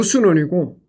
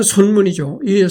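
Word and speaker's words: 孫文: 그래서 그 순원을 좋아하는 여자들이 많았었는데 그래서 어 순원은 그 중국 발음으로 순원이고 우리나라 한자 발음은으로는 선문이죠.이 손문이이 다섯 번이나 장갈 것 같습니다.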